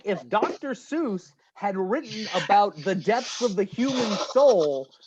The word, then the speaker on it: Seuss: It's pronounced Seuss.